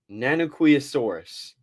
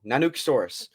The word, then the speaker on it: Nanuqsaurus: the Alaska's Tyrannosaurus Rex nanosaurus I think I'm pronouncing that right nanuk saurus I am pronouncing it wrong nanuk sorus so as you see